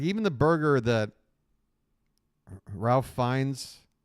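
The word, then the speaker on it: Ralph Fiennes: even the burger that Ralph fines or Rafe fines however you want to say his name I think it's Rafe sorry um the burger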